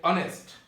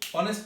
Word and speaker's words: honest: এরপরে আরেকটি শব্দ হচ্ছে অনেস্ট। অনেস্ট শব্দের অর্থ হচ্ছে সৎ। এখানে কিন্তু অনেস্ট লিখতে এইচ অক্ষরটি দেওয়া হয়েছে, বাট আমরা প্রনাউন্সিয়েশন সময় এইচ এর উচ্চারণটা আসে নাই।